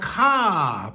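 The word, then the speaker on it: ค่ะ: Now, ca pronounced in a long vowel with a falling tone at the end of a sentence is how a Thai woman expresses respect. A man puts the word crap pronounced with a short vowel in a middle tone in that position for that purpose.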